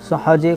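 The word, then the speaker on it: ث: সা যে উচ্চারণ হবে, দুটো দাঁতের মধ্যখান থেকে জিভটা হালকা বেরোবে, বেরিয়ে হালকা করে উচ্চারণ হবে।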